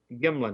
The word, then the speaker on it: Gimlin: that was Roger Patterson and Robert Gimlin, not Gremlin, but Gimlin, I guess, or Gimlin, or how it's pronounced.